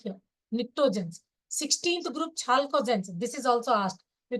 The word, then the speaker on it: chalcogens: P is silent here. Pnictogens. 16th group, chalcogens.